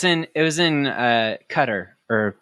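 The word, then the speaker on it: Qatar: it was in uh cutter or qar right cutter yeah it I took a middle east class and that's actually how it's pronounced yeah didn't that suck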